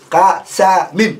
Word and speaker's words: قسم: بفتح القاف والسين. قاسام. That's how you say it.